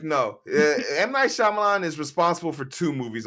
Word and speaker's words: Shyamalan: never heard of car no if you're saying M9 Shan you're saying Avatar and the horrible way they pronounced Ang as Ang like no M9 Shyamalan is responsible for two movies on this list